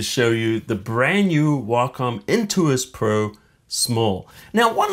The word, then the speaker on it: Wacom: really excited to show you the brand new Wacom Intuos Pro small now one last thing how do you say Wacom I've heard people say Wacom Wacom the proper way of saying it is Wacom and the reason it's that is why is